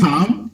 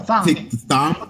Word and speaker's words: Thom: You say Tom? No, Thom. Thom. Yeah. It's not pronounced as Tom.